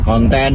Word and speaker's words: konten: k u dan n kemudian konten huruf k o n t e dan n Jadi bukan konten seperti dalam bahasa Inggris nah ini Tentunya memperkaya